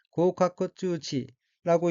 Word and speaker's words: 合格通知: 다음 어휘는 한자가 합격 통지이고 일본어로는 고우카쿠츠우치라고 읽으며 고우카쿠츠우치는 합격이란 뜻의 고우카쿠 플러스 통지란 뜻의 쯔치로 된 어휘로 고우카쿠 쯔치는 합격 통지란 의미입니다.